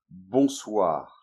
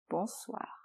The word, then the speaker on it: Bonsoir: we then prefer to use the word « Bonsoir ». - "Bonsoir". - So be careful with the pronunciation. , "Bonsoir", one word only.